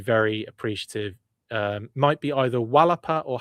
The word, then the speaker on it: Xalapa: Does anyone know how to pronounce XALAPA, please? That I would be very appreciative. Might be either Wallapa or Halapa, says Hella Geek.